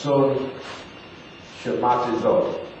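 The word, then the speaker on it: συσχηματίζω: The word conform in the Greek it's pronounced son shamatizo.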